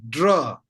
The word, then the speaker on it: དགྲ: Where did the second letter ka, the sound of ka gone? This ka is prefix, so you don't read them, right?